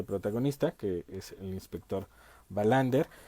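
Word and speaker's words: Wallander: la policía kur bander digamos que la pronunciación sería bander es interesante esta serie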